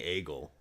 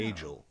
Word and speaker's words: Agiel: I'm not saying Agle. No. Agel.